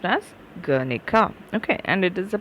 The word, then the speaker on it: Guernica: uh shown in the transcription there it is pronounced as guernica okay and it is a place name okay